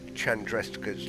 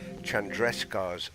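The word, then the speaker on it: Chandrasekhar: across the the some an astronomical term called Chandresta's limit? Sorry, I'll pronounce it correctly. Chandrescar's limit.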